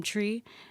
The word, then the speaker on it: Tri: And then I'm Tree, and my name is Katrina, so it's kind of short for Katrina.